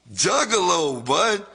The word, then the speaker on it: Juggalo: It took forever to get him to pronounce the word juggalo correctly. Jugaloo. He'd say, juggalo, bro. Jug-alo. Juggalo, bud.